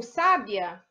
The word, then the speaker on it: sábia: sabia é uma paroxítona já tá ou sábia lembra que toda proparoxítona é acentuada a antepenúltima então é uma proparoxítona e o sabiá a